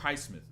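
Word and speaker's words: Highsmith: Or highmith, that's how you say his name, right?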